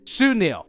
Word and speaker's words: Sunil: I don't know, but he's played by a great actor, very talented, seriously, and that would be pronounced Sunil.